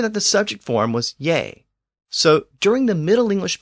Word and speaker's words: ge: you with the term yay or Y it was actually spelled GE in Old English but we know that that g was often pronounced with a Y sound and that form yay